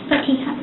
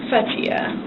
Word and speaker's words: Fathia: Um can you pronounce your name for me? Fatia. Fatia.